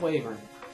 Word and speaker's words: wyvern: We found the Wing of Wyvern. Or it should be Wyvern, actually. It's pronounced Wyvern.